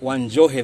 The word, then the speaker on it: Wanjohe: Yeah, so my name is Wanjohe. Wanjohe, that's how. Wanjohe, that's how you pronounce it.